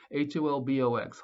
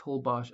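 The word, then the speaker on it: Holbox: whole bach hobok island wait how do you say that ho bash yeah hol box holbosh island and um and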